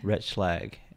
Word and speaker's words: Retschlag: I asked you your surname but can you pronounce it for me again Rich flag richlag and and where does Rich lag originate from